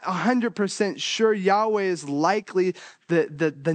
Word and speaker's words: Yahweh: lost in the writing they have a good idea that it's Yahweh sometimes it's pronounced over the years Jehovah based on a misunderstood what is likely a misunderstanding and this goes back